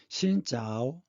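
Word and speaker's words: xin chào: 예를 들면 아침 인사가 새신 아침조를 써서 우리 발음으로는 신조인데 베트남에서는 아침 인사가 신짜오 이렇게 인사를 합니다.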